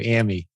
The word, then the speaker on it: Ammi: It took me a while myself to start calling you Ammi. So yeah, but now I correct others. It's like Tammy minus the T, guys.